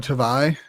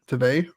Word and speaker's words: Tavai: And on defense, you got Jalen Hutchins and Jonah Tavai. Tavai? Is it Tavai or Tavai? Tavai. No, you said it right the first time.